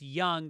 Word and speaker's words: Yonge: It's pronounced Young despite the spelling.